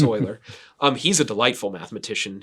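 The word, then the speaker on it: Euler: mispronounced his name it's e r and I pronounced it uler for the longest time it's it's Oiler um he's a delightful mathematician he he's writing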